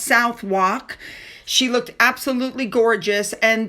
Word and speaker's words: Southwark: On the 12th, she visited the Unicorn Theater in, I think it's pronounced Southwark.